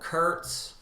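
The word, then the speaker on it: Kurtz: Ford Copa it is Marlon Brando as Colonel Curts am I pronouncing that correctly you are Jerry you are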